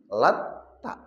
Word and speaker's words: Latta: Yang kedua, Bapak Ibu, lata itu tadi kalau dibacanya tanya itu ada tasdidnya lat ta. Jadi cara membacanya beda ya. Kalau tadi lata langsung, tapi kalau yang kedua ini lat ta ada tasdidnya di tnya.